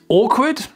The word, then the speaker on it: awkward: un cercle ici awward a awward cet adjectif awkward qui veut dire un peu qui veut dire